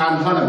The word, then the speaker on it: honor: Because H, like I've told you, is silent, and therefore we don't mention the word H, instead we pronounce it at letter O.